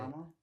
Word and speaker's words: Yokohama: y'all did at the end of the year last night, you know, that project, Yokohama. Am I saying it right? Yep. You got it. Yokohama.